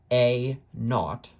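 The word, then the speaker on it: A₀: A subscript 0, which could be pronounced A naught, is the amount after time t equals 0.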